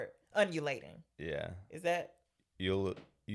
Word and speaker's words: ululating: Ululating. It's ULUL. I don't know how to say it. It's not undulating.